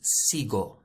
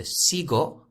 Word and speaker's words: sigo: i or an e so automatically the g is a gu sound the g is a gus sound so we don't need a u to make it hard so sigo i follow is spelled